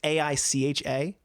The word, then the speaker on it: Aicha: I don't know if it's weird because they have Aisha Sivka, and I think she might be pronounced Aisha. It's Aicha.